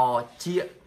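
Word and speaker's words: ត្រចៀក: ก็ เหมือน เอเลี่ยน หน่อย หู ออก เสียง ว่า รอ เชียบ รอ ที่ นะ ครับ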